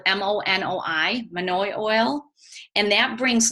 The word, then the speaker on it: monoi: you're styling it has monoi oil in it it's spelled mo Noi monoi oil and that brings lustre to dry